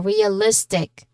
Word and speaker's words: realistic: So the stress is before I in realistic. Okay, listic. So list is our stressed syllable realistic.